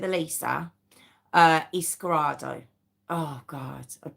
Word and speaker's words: Eliza: Now it is spelled Eliza. Um but everywhere I've heard her name pronounced it. So we're going to go with Elisa.